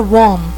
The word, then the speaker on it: one: Ou também, quando a gente tem uma palavra que começa com a letra O, mas ela tem um som de W, que faz aquele som da palavra one.